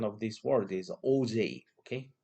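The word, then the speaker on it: Auger: or oh they oh something but the exact pronunciation of this word is OJ okay o j again OJ so OJ recombination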